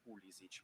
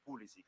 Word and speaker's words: Pulisic: Per quanto riguarda la prima domanda, naturalmente per le origini croate che ho, la corretta pronuncia sarebbe Pulisic. Poi però crescendo negli Stati Uniti tutti mi chiamavano Pulisic, e quindi mi sono abituato a questa pronuncia.